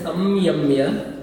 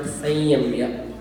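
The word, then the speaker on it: संयम्य: So we don't pronounce that as Samyamya, but Sanyamya. Okay, so a bit of a nasal tone has to be there.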